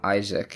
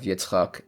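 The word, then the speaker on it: יצחק: For instance, Abraham instead of Avraham, Isaac instead of Yitzchak, Esau instead of Esav, Moses instead of Moshe, etc.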